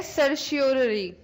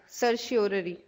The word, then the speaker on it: certiorari: अब नेक्स्ट है सर्शियोररी। सर्शियोररी लिखो, हायर कोर्ट्स। मैम स्पेलिंग बता ना। CERTIORARI, सर्शियोररी।